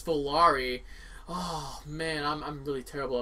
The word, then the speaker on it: Volare: Not Volaire. Keeps calling it Volaire when it's Volari.